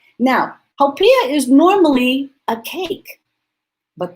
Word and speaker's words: haupia: So it's pronounced haupia.